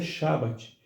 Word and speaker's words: Shabat: Por isso a pronúncia Shabat, que para o português se traduz como sábado, cujo significado é descanso.